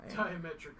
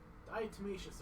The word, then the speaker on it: diatomaceous: Diametric earth. Sorry. Or hell, I may be getting it wrong too. No, you're probably right. My brain doesn't like to pronounce things properly. You're probably right. Oh god, I don't know how to pronounce that either. Diatomaceous. That word. Diatomaceous earth. There we go. No, diatomaceous. Yeah, that's right.